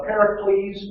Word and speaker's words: Pericles: at the beginning uh pericles that's how you pronounce his name here please and he's